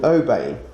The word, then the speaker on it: ouabain: Now the poison is actually something, it contains a substance called ouabain. I think I've pronounced that correctly. It's Ouabain.